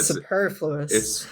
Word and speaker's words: superfluous: was fun because it's like the first two syllables are super so you think you say super right but you stress this superflu Superfluous it makes theis on the other salable there